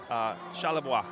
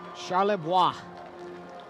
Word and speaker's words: Charlebois: It looks like Charlie. And looks like boy with an urban spelling, B-O-I-S. But the French pronunciation, and thank you for going and talking to the family. We appreciate them. Charlebois.